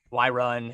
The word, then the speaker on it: wyvern: doubt you know a wyvern well that's so cute um and this explains a lot it's pronounced i've why run exactly i'm gonna be